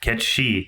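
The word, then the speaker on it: Cait Sith: machine the name's they pronounce it right cat she I like it they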